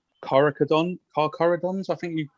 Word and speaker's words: Carcharodons: So it's Carcharodons, I think you pronounce it, the Red Tide.